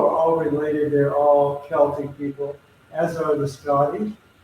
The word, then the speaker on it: Celtic: I think Celtic is Celtic, which people say Celtic, but I think the proper pronunciation is actually Celtic.